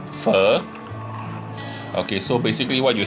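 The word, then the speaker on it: pho: dish which um is spelled p h o but they pronounce it fur okay so basically what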